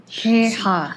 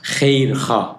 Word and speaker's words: KheirKhah: KheirKhah. KheirKhah. KheirKhah. Always I put some prize if anyone can pronounce my family name, but normally not easy.